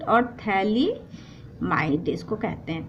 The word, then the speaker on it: phthalimide: पर इसको कहते थैलिडोमाइड इसमें पीएचसी क्या होता है हमारा पीएस साइलेंट और थैलिडोमाइड इसको कहते थे लिमिट